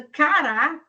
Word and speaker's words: cará: Então cara é uma coisa, cará que é uma raiz é outra. Então agora já mudou a forma de pronunciar, mudou também a sílaba tônica e mudou a palavra. Então, cará é a segunda sílaba que é tônica.